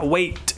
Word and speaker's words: weigh: ระวังกับคำว่า weight กับ weighweigh นะครับอันนี้ออกเสียงว่า weigh เพราะว่า e i g h คือสระ